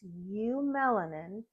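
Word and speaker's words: eumelanin: not just skin there's U melanin which this pronunciation is right in the text it's pronounced you melanin this is producing your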